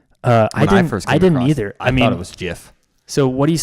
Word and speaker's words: GIF: What is the correct pronunciation? It's the most natural, logical way to pronounce it. That's why when everyone comes across the word for the first time, they use a hard G.